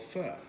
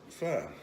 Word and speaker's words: pho: But a good friend of mine from high school came up with Pho, which is spelled P-H-O, but it's pronounced F-U-H.